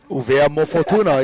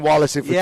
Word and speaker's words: Uvea Mo'ofatuna: Uvea Mo'ofatuna is a proper way to say it. I'm no longer saying Wallace and Fortuna. Yeah, I'm saying Uvea Mo'ofatuna.